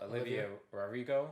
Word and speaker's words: Olivia Rodrigo: about that girl who was just watching uh olivia rodrigo that's how you say her name yeah um